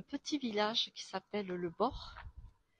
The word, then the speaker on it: Born: village qui s'appelle le bord qui s'écrit born mais on dit seulement bord les habitants de ce